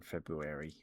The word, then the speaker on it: February: My There's a lot of birthdays in my family on in February. Feb fe February. February. Fe February. No one ever pronounces the R in February.